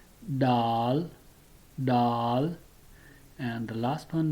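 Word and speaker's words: دال: Then the next one, it's called Daal, like English doll, Daal, Daal.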